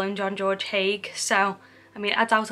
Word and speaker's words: Haigh: murders, or John George Haigh, or Hay. I would have pronounced it Hay because it's got like a G and an H at the end, and sometimes that's silent,